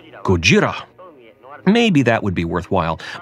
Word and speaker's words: ゴジラ: The emphasis on Gojira as a title is merely an attempt to incline people back to the Japanese pronunciation.